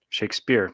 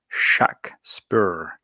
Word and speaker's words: Shakespeare: stratforian spellings would be shock spur to differentiate it from the author's name pronounced shake spear shakespeare's last shakespeare's last